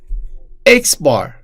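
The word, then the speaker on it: x̄: symbol here it is we pronounce it as X bar so X bar is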